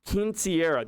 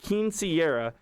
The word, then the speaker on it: Quinceañera: Quinceañera. Yeah, that's how you say it. Quinceañera.